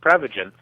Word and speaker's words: Prevagen: Well, technically it's pronounced Prevagen, but what Prevagen is is a supplement that's